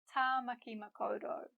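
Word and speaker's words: Tāmaki Makaurau: Tamaki Makaurau. Ta, ma, ki, ma, ko, ro.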